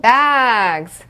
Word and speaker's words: bags: 자, 그럼 bags, bags, 가방이죠. bags. Z 소리 나는 거 들리시죠?